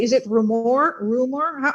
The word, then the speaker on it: Rumohr: Rumor has it. You know, the Adele song. That's what I usually tell people. Yeah, that's it. Nothing crazy. Just rumor. I heard a rumor.